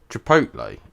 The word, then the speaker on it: Chipotle: Well, before I say something, Chipotle is the correct way to say it.